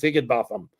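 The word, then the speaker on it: Higinbotham: H I G I N B O T H A M is Higgin Botham.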